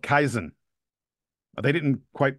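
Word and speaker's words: kaizen: Shire has brought to the team it's called kaisen they didn't quite pronounce it perfectly I looked it up kaisen is what it is called and kaisen is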